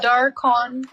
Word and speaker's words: Dorkong: it's Dorkong. Yes, the G in Dorkong is silent.